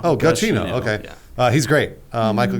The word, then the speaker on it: Giacchino: I think on his Twitter he has it written out phonetically, and I think it's Giacchino. Giacchino.